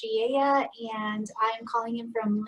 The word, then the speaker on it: Velez: Hi everyone, Velez, pronounced Shieya, and I'm calling in from Lancaster, Pennsylvania, Central PA.